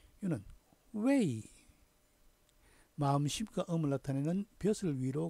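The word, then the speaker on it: 慰: 중국 발음으로는 웨이 이렇게 발음됐어요. 다음 위로할 위. 이는 웨이.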